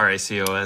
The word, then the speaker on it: racOS: Is it pronounced racOS or racOS or? I just call it racOS.